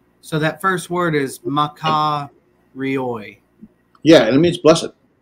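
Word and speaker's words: μακάριοι: this is ma ka ri oi, right?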